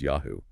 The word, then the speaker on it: YHW: Most scholars think YHW, pronounced Yahoo, was the name of